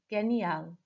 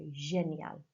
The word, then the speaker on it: génial: Okay, because I obviously mispronounced the G there. It has a soft sound, so génial.